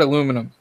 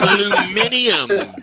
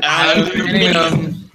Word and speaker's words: aluminium: Say the word aluminum. No, because that's wrong. Aluminium, bitches. Aluminium.